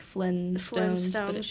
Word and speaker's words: Flintstones: is um The Flintstones everybody does not pronounce the T but there is a t because you know it's like the Flint Rock yeah so that's so we say like Flintstones yeah Stones okay so